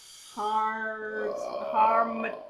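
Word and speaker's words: harmattan: Harmatan.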